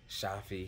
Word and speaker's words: Shafi: on the Cajon and Shafi his name rhymes with coffee I'll never forget that